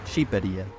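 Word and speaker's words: Shqipëria: Well, you never guess, but Albanians pronounce the name of their country Shqiperia. Shqiperia. What? It's not even close to Albania. Doesn't even start with an A. And the Q is apparently silent.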